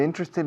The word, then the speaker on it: interested: Interested, no interested. Interested. Tres sílabas.